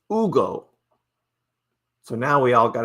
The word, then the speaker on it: Hugo: He goes by Ugo. He said, "Call me Ugo." The H is silent. It's Ugo.